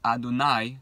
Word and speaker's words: Adonai: So, one of the highest names that is used is Yud Kei Vav Kei, which is the name we pronounce Adonai.